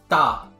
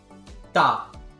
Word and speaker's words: ㄸ: Our next double consonant is this double D, which is pronounced as ta, ta. Again, comparing it to the single D sound, which is ta, ta, ta, ta.